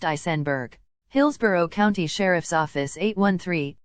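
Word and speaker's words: Aisenberg: below her right shoulder her last name is pronounced isenberg Hillsboro County Sheriff's Office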